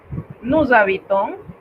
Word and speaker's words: nous habitons: Nous habitons, liaison aquí, la S se transforma en Z porque el verbo comienza con una H. Lo pronunciamos todos juntos, nous habitons.